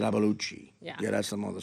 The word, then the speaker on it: Iapalucci: I say it Iapalucci, but that's not really Italian. I said Iapalucci. Yeah. Yeah, that's the mother slang. You would make my dad proud. Iapalucci.